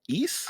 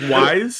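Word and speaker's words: Ys: too familiar with I never knew how to pronounce this series. East? I don't know Is if I'm we're going with? right, but that's I think it's Wise.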